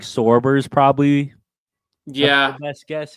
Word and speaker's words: Sorber: Sorber, right? Yeah, Sorber. Yeah, that's how you pronounce it.